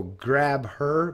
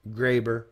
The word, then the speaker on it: Grabher: is GRA be eight-year so grab her but Graber probably is what how you pronounce it right the H would probably be silence silent but that's his genuine